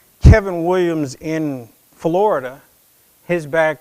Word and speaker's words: Kavin: said my name is kevin williams with an a it's pronounced as if that a were an e now mama was in